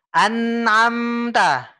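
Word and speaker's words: أنعمت: Masih direm, Pak ya. An'amta. N-nya tekan, Pak. Tekan. An'amta Tekan alaihim. dulu, Pak. Tekan. An'amta. An'amta. Coba. An'amta. Nah, gitu, Pak. Jadi lengket ya, alaihim. Pak. Lengket ya. Lengket. Ya. Lidahnya tuh lengket.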